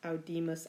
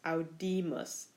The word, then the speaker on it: audimus: First person plural, capimus versus audimus. Accents on different syllables. Capimus versus audimus.